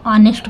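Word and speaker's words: honest: तो आप देखेंगे कि जो एच है यहां पे साइलेंट है इसको नेस्ट नहीं पढ़ते इसको ऑनेस्ट पढ़ते हैं ठीक है ये वल्स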